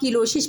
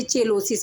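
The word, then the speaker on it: cheilosis: इसे या तो आप किलोसिस पढ़ेंगे या तो आप इसे चेलोसिस पढ़ेंगे। दोनों ही प्रोनाउंसिएशन सही है।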